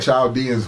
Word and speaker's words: Chaldean: I'm Chaldean. And the H is silent in Arabic, okay?